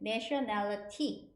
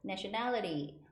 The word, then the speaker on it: nationality: 날라리처럼 보이는 그 단어인데 nationality 이제만 끝에 있는 t 발음이 중간에 모음 중간에 껴 가지고 nationality nationality 약간 이렇게 발음이 돼요